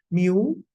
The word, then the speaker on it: mu: is a Greek letter mu it looks like a small letter U but there is a Greek letter that's pronounced as Mu is equal to summation